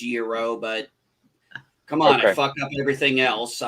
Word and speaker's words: gyro: have the best freaking gyro i've ever had you know that's not how that's pronounced right yes i know that's i know it's supposed to be pronounced euro but come on [